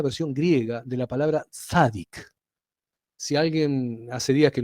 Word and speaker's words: tzadik: Pero es importante que se sepa esto, porque un tzadik, trato de pronunciarlo fácil para ustedes, esto sería con una T, una Z, una A, una D, una I y una Q final, un tzadik.